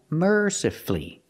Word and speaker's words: mercifully: practice with mercifully again mercifully you have two syllables before f u l l y and the stress is on the first syllable so the U is silent you don't hear it mercifully not mercifully